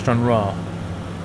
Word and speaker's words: Stranraer: Stranraer pronounced Stranraer. Ryan like the name, okay.